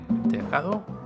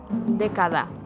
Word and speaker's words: década: How do you say decade? Decade. Decado? Década. Década? Década. Década. Yes. Decade is década? Yes. Una década. Una década. Okay.